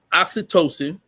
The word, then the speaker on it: oxytocin: that um right yeah yeah so it's it's oxytocin that is that's how you pronounce I pronounce it wrong o x y t o c i n had to do the little read out loud